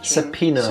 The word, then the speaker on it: subpoena: Subpoena. The O is silent.